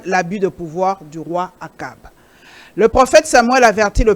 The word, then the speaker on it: Achab: Prononcé Achab ou Akab. Akab.